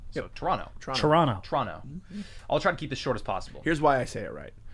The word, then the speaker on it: Toronto: The second T is silent. So yep. Toronto.